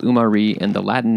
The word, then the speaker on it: Umarí: So the name of the tree and the fruit is Umarí, and that's spelled Umari.